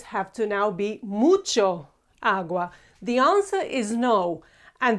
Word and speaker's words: agua: change it, because again the accent is on u. So even though that we have two as that meet, only one of them is accentuated, the other one is not.